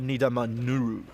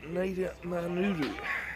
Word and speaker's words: Nidamanuru: the game, Shovik, but how do you say his last name? Tasia Nidamanuru. Tasia Nidamanuru.